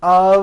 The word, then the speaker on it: of: speakers make this mistake even though the word of is spelled with an F we pronounce the word of with a voice viii I know this